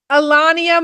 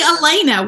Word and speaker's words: Elena: Alania. No, there's no way that's right. I went more accent. That's a good pronunciation. It's actually Elena. What is wrong with you? Her name's Elena.